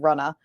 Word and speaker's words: RUNNAH: have started that's called RUA ru n ah which is how you pronounce it in Massachusetts because that's where I'm